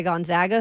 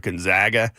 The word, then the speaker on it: Gonzaga: I ever heard of Gonzaga was when John Stockton became you know a property in the in the NBA I was like where's Gonzaga people never pronounce it right you know right Gonzaga Gonzaga it's like known zags